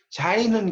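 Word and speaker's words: Sein: 자, 있는 현실을 이제 독일어로 자인이라고 그래요. 이걸 이제 발음을 자인이라고 합니다. 자인. 그럼 있어야 하는 현실은 이거는 독일어로 졸렌이라고. 이렇게 발음을 써놓으시면 좀 이해가 쉬워요. 자인은 그러니까 영어로 말하면 is에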